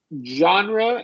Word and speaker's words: genre: that also occurs now this uh genre at the at the beginning of a word tends to give people trouble it's a really common word and it's a really good word it just means type right what type what genre of music what type of music do you like what genre of movies and so on so genre and garage Gage genre garage Gage yeah there you go that's it h barrage and garage great uh so you